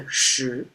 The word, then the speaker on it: 十: Pronounced as shí.